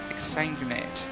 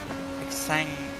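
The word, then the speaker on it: exsanguinate: Exangate. I was just pronouncing it wrong. outside. Clear. Thank you, Zero. Hey, Zero. X. Oh, Xanguinate. Okay, that makes more sense. I was just pronouncing it. I was just pronouncing it completely wrong. I didn't hear the X part though.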